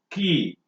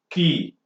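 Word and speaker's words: quay: it is pronounced as key so the similar way you pronounce the key that used for locking and opening though is the way you pronounce this one it is key similarly he worked like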